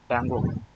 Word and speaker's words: Django: Dango. J is silent, I guess.